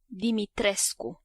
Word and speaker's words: Dimitrescu: This very tall lady is Lady Dimitrescu, which I YouTubed how to pronounce and was met with this. Dimitrescu.